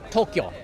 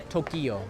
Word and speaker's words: Tokyo: think that that's funny it's only two syllables Tokyo is Tokyo not Tokyo just anyone who tries